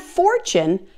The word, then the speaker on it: fortune: Now there are also a few other common words where the T is pronounced as CH as well. For example, the word century, the word statue, situation, and the word fortune and its related forms.